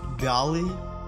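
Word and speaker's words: biały: Смотри, чтобы проще запомнить тебе это слово, просто сначала научись говорить бялый, в конце используя букву L, а после замени ее на между L и V. То есть такой будет звук бялы. Бялы. И это будет правильное произношение данного слова.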